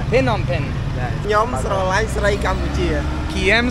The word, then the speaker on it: Phnom Penh: Okay, so it's not Phnom Penh, it's Phnom Penh.